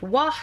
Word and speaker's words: W: The W tribe, pronounced Wa and meaning Wolf, is